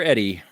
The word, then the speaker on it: Eddie: Eddie, are you ready? I'm ready. My name rhymes with it. Ready, Eddie.